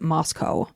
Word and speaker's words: Moscow: But they pronounce it Moscow.